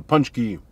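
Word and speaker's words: pączki: my mouth so there's the inside of a punch key i'm so happy that i know how to pronounce these that is good i generally don't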